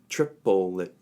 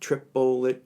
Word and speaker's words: triplet: we're working with the rhythm that's how it's pronounced triple it triple it triple it triple it now as stupid as